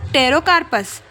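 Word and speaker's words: Pterocarpus: पेटेरो बोला मैंने लेकिन हम पढ़ते मतलब प्रोनाउंसिएशन में जाएगा वो टैरोकार्पस फिर उसके बाद टैरोकार्पस मार्सपियम टैरोकार्पस मार्सूपियम लिखेंगे लेकिन हम पी आंगे है ना इसलिए मैंने पटेरोकार्पस बोल के बताया कि एटलीस्ट स्पेलिंग मिस्टेक ना हो फिर उसके बाद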